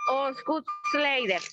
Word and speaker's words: Osgood-Schlatter: Entonces, ahorita vamos a ver cómo se escribe, pero se pronuncia Osgood-Schlatter.